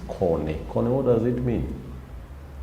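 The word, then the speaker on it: kone: Cone and corn. It is basically corn and cone. In English, we pronounce it as corn, but in the Luo, it is cone.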